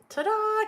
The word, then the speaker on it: Ta-Da: Ta-da, because then it kind of puts the little, it's like our little emphasis is on that second syllable.